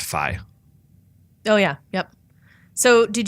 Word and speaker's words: Fi: Oh, I found out it is pronounced Fi.